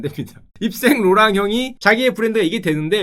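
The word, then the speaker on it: Yves Saint Laurent: 백화점 가면은 많이 보이는 요 상표 YSL, 이거 이슬이라고 읽으시면 안 됩니다. 입생 로랑 형이 자기의 브랜드가 이게 되는데 여기서 대박이 나요.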